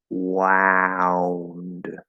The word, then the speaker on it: wound: but in that case the ow diphthong also ends in a similar position to the W um but you have to open more into ah first wound wound so that one's